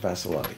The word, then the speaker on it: Vassalotti: I'd also like to point out that you pronounced my name beautifully. Oh, why, thank you. Thank you so much, Vassalotti, yes.